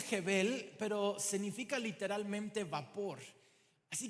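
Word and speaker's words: הֶבֶל: una palabra en hebreo que significa, que se pronuncia Jebel, pero significa literalmente vapor.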